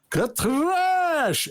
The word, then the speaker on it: Katrash: And then Eric's like, Katrash again. Well, no, Master Eric, roll your R's. Katrash.